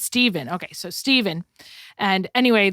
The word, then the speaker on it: Stephen: read the story about Stephen. Is that how you say his name? No, Stephen. It's Stephen.